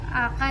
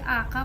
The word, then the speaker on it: آقا: جیسے اگر کوئی ورڈ آقا جیسے ورڈ ہے تو آپ اسے آقا پراپر بولیں، آقا مت بولیں. قاف کو کاف مت بولیں، قاف بولیں.